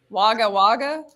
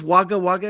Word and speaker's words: Wagga Wagga: And I saw a bunch of cowboys, I think, correct me if I'm wrong in my pronunciation of this, but Wagga Wagga.